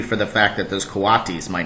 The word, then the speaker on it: coatis: "These are coatis," Miss Brisbane said, reading from the letter, pronounced coatis.